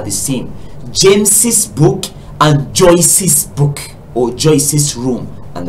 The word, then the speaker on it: Joyce: For instance, Joyce. Joyce is spelled J-O-Y-C-E. Okay, C-E. Yes, Joyce, C-E. It means the sound is S and it is there.